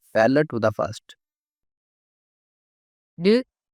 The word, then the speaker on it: る: る、る、 The pronunciation of character ru in Japanese is something like the combination of R double O in English.